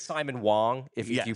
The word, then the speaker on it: Wang: was that really really it's Simon Wong if if you pronounce it correctly.